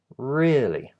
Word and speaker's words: really: rarely but it's higher it's R red like in the word rid right R really really red really and